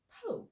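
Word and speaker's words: Polk: and of course it's it's spelled p o l k like pke but when I heard it my brain H poke like p o k e so I was like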